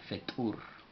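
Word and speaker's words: ፍጡር: va acompañada por vocal, Fetur. Y Fetur, para escribirlo en español, sería F, no se pronuncia vocal, T explosiva U, Fetu, y una R, la cual tampoco va acompañada por vocal.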